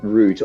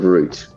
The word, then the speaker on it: route: But yes, I I pronounced the word root. R U T R R O U T E. I pronounce it root because the other word without the E is pronounced route.